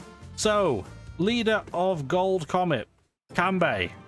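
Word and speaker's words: Kanbei: leader of gold Comet cambei or kambai I guess not spelled that way but that's how it's pronounced so this track absolutely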